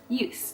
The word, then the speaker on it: ljus: Use, that's what I meant to say. Tända, use. You know, I must say, pronunciation on my part, 10 out of 10.